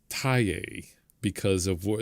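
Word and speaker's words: Thaye: upset about is the what we call a FA because that's how it looks, but it's pronounced Thai because of what it's originally.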